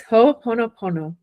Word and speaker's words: Ho'oponopono: So, can you pronounce it for us, Miss Sweetie? Yes. It's Ho'oponopono.